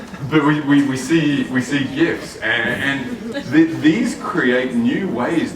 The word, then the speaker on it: GIF: There are GIFs or GIFs if you say it wrong.